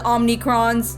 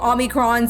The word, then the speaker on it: Omicron: our people meanwhile are called the omnicrons oh omicrons I've been pronouncing it wrong this whole time and you stand within